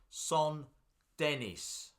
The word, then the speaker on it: Saint-Denis: As did this lovely layout, Saint-Denis. Dawn, it says St. Denis on the sign. It's French. Oh, okay. Saint-Denis.